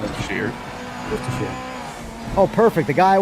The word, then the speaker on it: Worcestershire: It's Worcestershire. It's a shirt. Oh. It's not a sheer. Worcestershire.